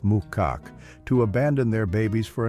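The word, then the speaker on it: macaque: Yasunaga said it's not uncommon for some Japanese macaks, pronounced Mukak, to abandon their babies for a number of reasons.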